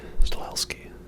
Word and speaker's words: Stahelski: Stahelski.